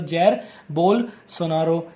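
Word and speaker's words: Jair Bolsonaro: जो नाम है देख लो, प्रोनाउंसिएशन देख लो, जैर बोल्सोनारो।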